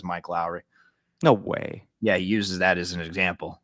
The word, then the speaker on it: Lowry: is it pronounced Lowry like Mike Lowry it is yeah I always call him Lori I I call him